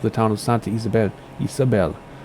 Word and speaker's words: Isabel: town of Santa Isabel Isabel there's no accents you accent the penultimate syllable Santa Isabel land at